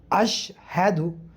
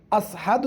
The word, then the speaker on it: আশহাদু: আশহাদু বাতাস বের হইছে আশহাদু আশহাদু যদি বলে আশহাদু আশহাদু অশুদ্ধ এইভাবে যদি আশহাদুর জায়গায় যদি আসহাদু যদি বলেন অশুদ্ধ তাহলে কি হবে আশহাদু